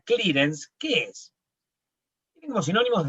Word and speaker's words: clearance: Aranza se escribe, pero se pronuncia clearance.